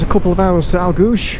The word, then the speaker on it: Aultguish: couple of hours to elgu SH how she pronounced it that was the last